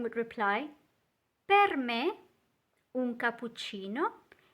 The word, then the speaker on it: cappuccino: So make sure you pronounce all those doubles.